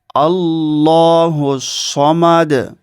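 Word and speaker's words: ٱللَّهُ ٱلصَّمَدُ: আল্লাহু সামাদ আল্লাহুস সামাদ অনেক মানুষ আল্লাহুস সামাদ বলে এখানে ভুল উচ্চারণ হচ্ছে সওয়াবের জায়গায় গুনা হয়ে যাবে সেজন্য এটা আপনাদেরকে পড়তে হবে আল্লাহুস সামাদ সামাদ কুলহু আল্লাহু আহাদ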